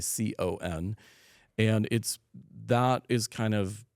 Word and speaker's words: Picon: The reason it's called a pecan punch, and a lot of people will hear pecan and think of the nut. It's spelled differently. It's Picon, and that is kind of an interesting story in itself.